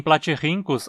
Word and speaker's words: platyrhynchos: o nosso platyrhincus doméstica em platyrhincus a penúltima sílaba em terminar em consoante então precisa receber os e o nosso é